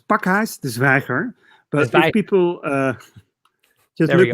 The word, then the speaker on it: Pakhuis de Zwijger: Yeah, you said so it's Pakhuis de Zwijger.